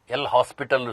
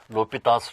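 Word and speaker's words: L'Hôpital: is the l'hopital's rule so many students read this says L hospital rule but he is a French mathematician it should be pronounced as l'hopital's rule so this is in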